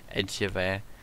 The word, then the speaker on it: Angevere: Today we're joined by Angevere. Is that how you say it? Everyone pronounces it differently. Angevere.